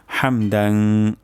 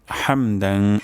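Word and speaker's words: حمدا: নেই রব্বানা ওয়ালাকাল হামদ হামদান হামদান এখানে হাও হবে গলার মাঝখান থেকে উচ্চারণ হবে হামদান কাসিরং সা কাসি সিন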